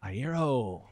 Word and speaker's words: Iero: director and this is in conversation with frank ayero yes you may even pronounce my name did i say it right